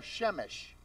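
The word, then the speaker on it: שמש: The first three letters, Shin, Mem, Shin, spell Shemesh. Shemesh is the sun.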